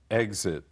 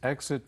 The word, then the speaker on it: exit: Exit. 离开。 After the movie, please exit from the rear of the hall. 在电影播毕之后，请由影厅的后方门离开。 Here I should remind everyone that exit or exit, the 2 pronunciations, both are correct.